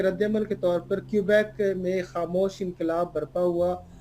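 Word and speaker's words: Quebec: نام کیوبیک ہے۔ ہمارے لوگ اکثر اس کو کیوبیک بھی پڑھتے ہیں، لیکن یہاں پہ تلفظ جو ہے وہ کیوبیک اس کو کہا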